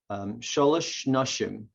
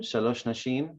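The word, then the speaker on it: שלוש נשים: Shalosh Nashim, that would be the Yiddish or the Ashkenazic pronunciation. Shalosh Nashim, obviously in Israeli Hebrew.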